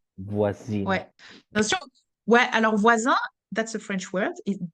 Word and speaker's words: voisine: Ouais, alors voisin, that's a French word. It does exist. That's neighbor, but that's the masculine. Voisin. Un. And then because the E is added, the N is pronounced. Voisine.